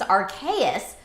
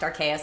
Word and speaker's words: Arceus: Pokemon Legends Arceus looked very Breath of the Wild-like and is